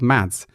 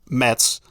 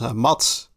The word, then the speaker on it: Mads: There's a lot of famous Danish cyclists which are called Mads. And Dutch Dutch announcers just say it as Mats.